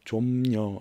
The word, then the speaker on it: 좀녀: 이 애순의 엄마의 직업은 해녀, 제주도 말로 좀녀. 좀녀는 해녀를 뜻하는 말인데 아마도 한자 잠수, 잠길 잠자를 써서 잠수하다 할 때 잠녀를 제주식으로 발음하는 걸 거예요.